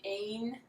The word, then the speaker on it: immagine: So the ain is because it's so strange. The ain, it's weird. Indistinguibile. So it sounds more like an A.